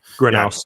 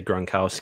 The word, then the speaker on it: Gronowski: Granowski. Yeah, it's really easy to just say Gronowski because we've said that name our entire lives. So Mark Granowski, he's he's kind of